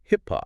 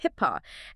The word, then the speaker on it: HIPAA: saying it quite a bit today, that is HIPPA. Yes, HIPPA.